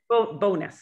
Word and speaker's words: Bowness: not from calgary but bowness is that how i pronounce the promise bonus bonus oh excuse me is